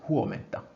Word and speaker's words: huomenta: Alors, en finnois, le premier, j'ai noté ici en fait huomenta. Huomenta. Le U qui se prononce toujours OU, hein, huomenta, qui veut dire bonjour.